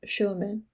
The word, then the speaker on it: Sherman: John's River lives William Sherman, locally pronounced Schumann, a former slave of Jack Davis, nephew of President Jefferson Davis of the Confederacy.